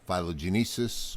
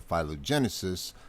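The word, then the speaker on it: phylogenesis: we called speciation okay whether you pronounce it viola Genesis or phyla Genesis this is the term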